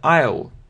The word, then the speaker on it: I'll: Читается I'll.